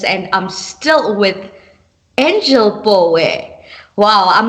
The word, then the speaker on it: Pooe: somebody might say Pooh.